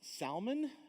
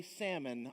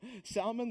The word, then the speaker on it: Salmon: contains ruth it says now this word is pronounced salman but if you want to say salmon i'm not going to say anything about it okay i know you're hungry all right so salman the father of boaz whose mother was rahab